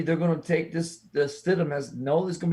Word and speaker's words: Stidham: Jarrett Stidham.